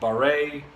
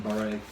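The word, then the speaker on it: Barre: a r r e to me it sounds kind of like a French kind of name so I call him Martin baret because I don't really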